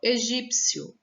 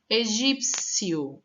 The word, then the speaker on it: egípcio: ainda escutar o som elas são chamadas de letras mudas ou no caso consoantes mudas Tá certo por quê Porque nessa pronúncia dessas letras em especial a pronúncia ela é feita de uma forma tão rápida ó egípcio que você acaba dando o som mais forte pra próxima sílaba olha egípcio tá vendo